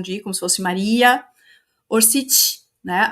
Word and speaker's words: Orsic: A pronúncia é orcite. Ou também Maria Orci, sem o c no final. Mas esse c final sem nada tem o som de ti. Por isso que é orcit, tá?